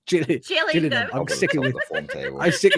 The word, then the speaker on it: Gillingham: It's not Gillinham. It's gillingham.